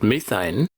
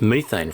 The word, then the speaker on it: methane: smell fantastic molecule number four is ch4 aussies pronounce it methane and americans pronounce it methane so it's methane from now on because i'm an aussie take